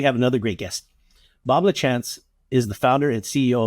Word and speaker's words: Lachance: get get into it now is that how you say it l chance or is it that's it that's it thank you